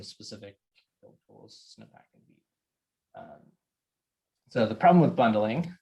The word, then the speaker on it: Vite: Yeah, it's pronounced Vite. I had to I looked at multiple places to verify the pronunciation there. Also, my wife speaks a little French, and it's a French word, so that was helpful.